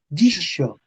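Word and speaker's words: dixo: Dijo, les se Ojo, hizo, la, la X se pronuncia sh. Dicho, dicho.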